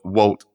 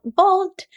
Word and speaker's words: Wolt: your Global head of Walt is it Walt or vault I always get it wrong it's funny I also said Walt when I started but how pronounces Vault so you're now global